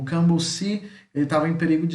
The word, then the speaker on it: cambuci: Cambuci, cambuci, tá? A única diferença que além da escrita é a pronúncia. Aqui no português o bu é mais forte e em Guarani é o cam.